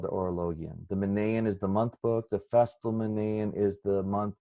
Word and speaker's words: Orologion: He says Horologion, but he's the first person I've ever heard pronounce it that way. I was taught Orologion, the Book of the